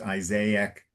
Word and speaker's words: Isaac: Okay, and very good that you stopped and you pronounced Isaac correctly in English.